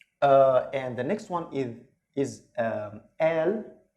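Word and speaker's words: قال: And the next one is al. Here the qaf, actually in the Egyptian dialect, it's not pronounced like qaf in standard Arabic, but it's pronounced like al.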